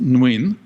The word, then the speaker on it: Nguyen: It's pronounced Nguyen.